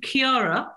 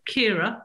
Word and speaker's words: Ciara: So on this particular day, it was February the 9th, and it was Storm Ciara, or Kira, depending on how you say it, which had hit England on that particular day.